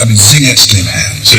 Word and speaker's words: Singet: So in choir 2, he starts just the word Singet, 2 syllables. Singet, Singet.